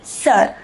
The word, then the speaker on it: sœur: It is pronounced sœur.